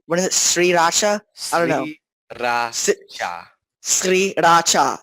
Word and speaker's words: Sriracha: pronounced what is it, Sriracha? I don't know. Sriracha. Sriracha. It's like, it's three full syllables, and you're supposed to say them like very separated.